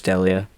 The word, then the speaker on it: D'Elia: very fresh we're talking about of course Chris D'Elia is how you say his name yes I